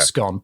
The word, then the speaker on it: Scone: If we're talking about the little cake, I also pronounce it scone.